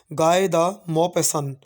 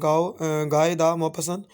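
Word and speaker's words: Guy de Maupassant: जो राइटर का नाम है गाय दा मोपेसन। ठीक है जी। एक फ्रेंच नेम है गाय दा मोपेसन। तो मुश्किल प्रोनाउंसिएशन है, लेकिन कोई मसला नहीं है, आप एक दो दफ़ा कहेंगे तो आपको आ जाएगी।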